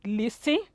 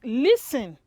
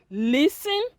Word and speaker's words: listen: these words this is listen or have you been calling it listing it is incorrect the correct pronunciation is listen the t e the letter t is silent so you have listen hurting apostle castle orphan